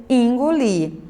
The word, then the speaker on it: engolir: Algumas pessoas pronunciam, mas em muitas regiões se pronuncia engolir. Então, ó, em muitas palavras, como você pôde observar aqui, o E é pronunciado como fosse I.